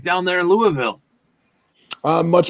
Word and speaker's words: Louisville: It's even the people that live here get some that say Louisville, then you have some that say it's Louisville, then you have some that say it's Louisville, and it's actually Louisville. That's what I mean when somebody pronounces it like that. Just Louisville. That's when you know you're a real native.